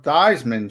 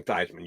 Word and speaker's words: Theismann: Joe Theismann changed it to rhyme with Heisman, but he didn't win the Heisman.